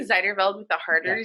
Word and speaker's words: Zijderveld: You t- No, I mean, like you said it the way that the Dutch people would say it, which is Zijderveld. So, like, yeah, but yeah, I say Zijderveld with a harder yeah.